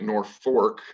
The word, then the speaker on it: Norfolk: hearing me say at north fork a second are pronounced and that's for a reason even though it's spelled like norfolk virginia the original name of